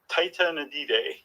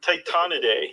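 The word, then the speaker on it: Tytonidae: these two families um Tita nadive I added an extra syllable Titan a day yeah yeah okay I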